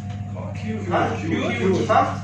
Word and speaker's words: cute: If you have a word that ends with E, لو انت عندك كلمة آخرها حرف E, okay؟ وفي في نص حرف متحرك حرف vowel, okay؟ The E makes or we pronounce the vowel letter in the long vowel sound.